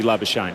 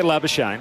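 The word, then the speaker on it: Labuschagne: very clear that look, he's happy to be Labashane. He's Yeah. He's happy for people to call it that. And so you've got the real version of his name, which is how it's said in his family surname. And then you've got this version where he's basically told all the press and the commentators to say it that way.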